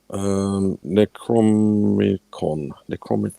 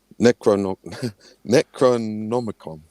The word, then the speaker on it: Necronomicon: Right, Necromicon. How do you pronounce it?